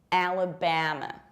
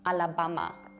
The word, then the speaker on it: Alabama: We pronounce it like Alabama. What is so difficult here? Majority of people say Alabama or Alabama, like Alamakota, and they open their mouth like this, so vertically, Alabama.